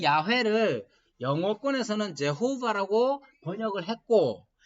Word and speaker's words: 야훼: 야훼라는 발음이에요. 근데 그 야훼를 영어권에서는 제호바라고 번역을 했고 그 제호바를 그대로 한국어로 이렇게 음을 바꿔서 부를 때 여호와라는 말을 쓴 거예요.